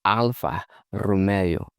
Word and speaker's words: Alfa Romeo: Some say like all kinds of stuff, but that's not how Italians pronounce it. They say Alpha Romeo.